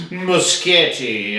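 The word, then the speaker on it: Muschietti: of this film uh Andres muskete uh is I believe how you pronounce it uh pronounce his last name rather but if you look at the spelling it kind of sounds like a machete what an awesome name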